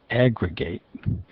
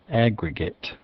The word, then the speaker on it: aggregate: As a verb, it's aggregate. Stress first syllable, aggregate. But as a noun or an adjective, aggregate.